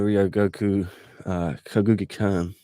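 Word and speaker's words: Ryōgoku Kokugikan: because one did the uh sumo hall the rio goku uh kaguki khan i pronounced that right well done the famed sumo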